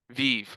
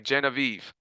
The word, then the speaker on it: Genevieve: Giovanni Negron-Garcia: Gen-o-Vieve is that that's did I pronounce that right? Giovanni Negron-Garcia: Gen-a-veev. Ok. Genevieve.